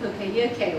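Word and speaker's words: poka-yoke: Okayoke. It's again everyone. It's in the UK, in the US, in the world manufacturing industry. They use the okayoke. But they pronounce like pokeyoke or something.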